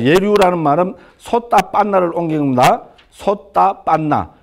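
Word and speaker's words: sotāpanna: 자, 예류도는 마음, 자, 예류라는 말은 솥다 빤나를 옮긴 겁니다. 솥다 빤나. 그래서 솥다 빤, 맨 뒤에 아 발음은 안 합니다. 지금 힌디가 그렇습니다. 그러니까 이거는 솥다 빤이겠죠.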